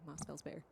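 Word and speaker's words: Mosfellsbær: Moss Fells Boyer. Is that Mossfell's bear? It's the A and the E that are A, connected. yeah. Yeah. Yeah. That's what I'd say. Yep. Mossfell's bear.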